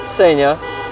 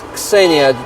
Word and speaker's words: Ksenia: No, not Ksenia. It's Ksenia, like Mr. Kaplan said it there.